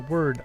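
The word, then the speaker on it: 我: It represents the word I, or me, but there's nothing about the character that would let you figure that out just by looking at it.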